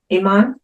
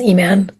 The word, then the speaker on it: Iman: Iman. Oh, good morning, Sandra. My name is actually pronounced as Eman.